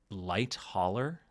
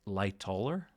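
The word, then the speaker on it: Lightoller: I also tend to say light hauler. I tend to put another h in his name. Uh it's lighter. It's hard for me to say. I I don't know where I got light holler from. Um but someone pointed out that I've been I say his name wrong every time. I never really noticed that. I guess I just Yeah. Lighter. Loller. I don't know. I'll work on that.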